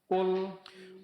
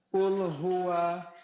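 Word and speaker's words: قل: Kemudian huruf lamnya tipis ya, Pak ya. Qul. Iya. Qul. Qul hua. Qul hua. Nah, baru digabung dengan lafaz Allah dan lamnya ditebalkan. Qul huwallahu. Qul huwallahu. Nah, kemudian pengucapan huruf lam sukun. Jangan suaranya tertahan ya, Pak ya. Karena di antara sifat huruf lam pengucapannya suara antara tertahan dan dilepaskan jadi pertengahan. Qul qulhu qul hua. Jangan qulhu ya.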